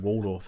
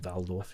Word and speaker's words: Waldorf: And then you mention the word Waldorf as well, or Waldorf if you want to say it properly.